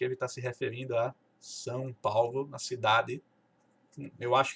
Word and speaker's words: São: Como é que eles falam esse São? Fala Sal. Não sei se você já viu em algum filme, algum repórter ou alguém falando inglês fluente, algum nativo falando inglês com microfone, aí de repente diz, não, não, não sei o que, São Paulo, Sal, né? Nunca fala São.